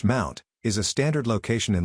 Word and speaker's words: mnt: in the file system the directory MNT pronounced Mount is a standard location